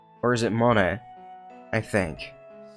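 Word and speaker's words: モネ: See, that is how you say it, Monet.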